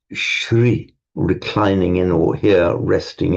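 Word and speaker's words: श्री: By the way, not the same as Shri. Shri with a long E is glory, light and glory. It's the same as in Sri Lanka. It's that, the long E.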